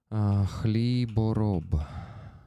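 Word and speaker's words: Хлібороб: So our ha, H, h, Kalibarob, is the same one as in Spanish. I know that they don't say X. They pronounce it as H, right?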